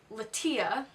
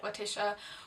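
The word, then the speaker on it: Lettia: so these are the lateeya I someone told me that I was pronouncing it like Leticia which is wrong so it's like the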